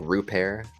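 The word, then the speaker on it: Rupert: ahead and uh Ryan I I heard it be pronounced like root pear uh the kid from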